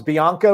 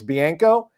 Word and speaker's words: Bianco: bianco yeah but that's just me speaking of pronunciations i always thought was bianca we all call him bianca but then he's like it's bianco ray points out that it's pronounced marchio nico